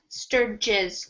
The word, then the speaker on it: Sturges: I would say his name's Sturges. Sturges with a soft G.